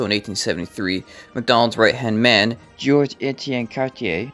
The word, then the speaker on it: Georges-Étienne Cartier: I didn't know that properly segue into this, but also in 1873, Macdonald's right-hand man, Georges-Étienne Cartier, yes, I finally pronounced his name correctly, I'm not fixing all